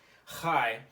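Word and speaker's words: חי: This was chai. It's kind of like saying hi, but with that noise. Chai.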